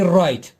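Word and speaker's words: write: isn't pronounced for example w is written it is used in writing but we don't read it when we say the word we say right okay we leave out the w right no wrong snow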